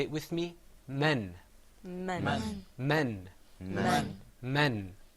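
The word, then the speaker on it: م: You see on the screen, inshallah, coming up is harf al-mim, the meme sound.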